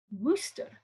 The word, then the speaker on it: Worcester: language which says explicitly some people rhyme worcester with rooster wooster more commonly though the